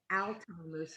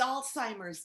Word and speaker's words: Alzheimer's: And yes, it is a horrible disease, but it's Alzheimer's disease. That's what I said. No, you didn't. You said Alzheimer's with a T. There's no T in Alzheimer's.